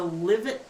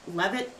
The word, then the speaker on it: Livet: 1822 and it's actually in the livit levit how do you say it lit Liv it l it l belly okay okay livit Valley it's in the livet Valley of the Scottish Highlands